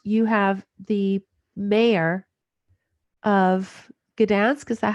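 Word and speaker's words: Gdańsk: you have is you have the mayor of Gdansk is that how you pronounce it yeah so he was a lady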